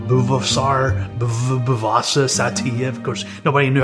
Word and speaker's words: Buvaisar Saitiev: Buvaisar Saitiev.